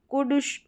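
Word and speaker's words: could: तो ओ यू को उ करके प्रोनाउंस करते हैं।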